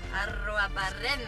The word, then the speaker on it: Arruabarrena: Lara Arruabarrena. Ah, so she rolls the R's. Victor Troicki, is that right?